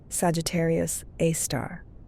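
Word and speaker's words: Sagittarius A*: a super massive black hole called Sagittarius A, pronounced Sagittarius Aar.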